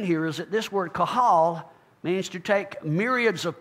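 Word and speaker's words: קהל: Of course, that word in Hebrew, Strong's number 6950, it's pronounced chahal, and it means to assemble, to summons. Now, the interesting thing here is that this word kahal means to take myriads of people, individuals, and assemble them together as one.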